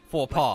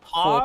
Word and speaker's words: faux pas: How do you pronounce that? Faux pas. Faux Faux Faux pas.